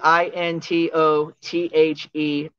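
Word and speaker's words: Into the Missed: And it's Into, InTOTHEMISSED. Yes. I know it sounds like I say mist, but it's actually missed. Like missing.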